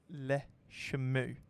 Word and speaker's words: Le Chameau: They are pronounced as Le Chameau.